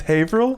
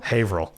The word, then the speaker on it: Haverhill: haverhill massachusetts rg's pub let's pronounce haverhill is it it's true the only reason i know is because i played a show there one time it's haverhill haverhill but it's why he's [ __